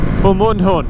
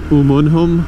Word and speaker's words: Umunhum: I was saying Umunhum, but I think it's Umunhum.